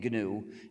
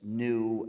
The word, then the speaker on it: GNU: But it still is GNU, so be careful to pronounce the name GNU and avoid the various erroneous pronunciations such as new and Linux.